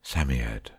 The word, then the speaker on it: Psammead: robert anthea and jane that it was a samyad or sand fairy samyad is pronounced samyad it was old old old and his birthday